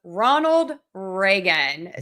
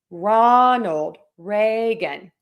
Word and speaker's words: Ronald Reagan: So we're going to have stress on the beginning of each of these and we are going to say Ronald Reagan.